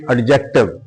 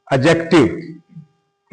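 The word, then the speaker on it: adjective: fifth number पे है एडजेक्टिव mostly students mostly people speak या से एडजेक्टिव this is the wrong pronunciation the डी is silent here एडजेक्टिव इसमें shift इन उर्दू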